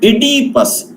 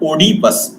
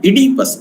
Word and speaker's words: Oedipus: King Oedipus, not Oedipus. Remember, Oedipus is the pronunciation of this word.